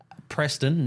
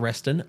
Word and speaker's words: Preston: probably butchered it Preston Ricky Preston not Reston Preston Ricky Maverick guia and Tyrone